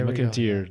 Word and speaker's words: Mac an t-Saoir: maybe much schmuck in tears I hear they McAteer there we go okay yeah I'm gonna do